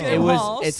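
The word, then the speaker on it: Game Haus: There was this place before the pandemic, but it was called Game House, but it's spelled Game H-A-U-S-E. Oh yeah, like German thing. Yeah, Wow. but Game House.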